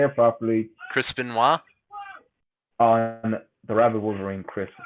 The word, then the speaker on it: Chris Benoit: Chris Benoit.